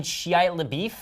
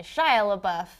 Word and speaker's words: Shia LaBeouf: You mean Shia LaBeouf?